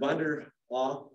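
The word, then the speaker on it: Von der Ahe: Louis owner, Vanderhaugh is how you pronounce it.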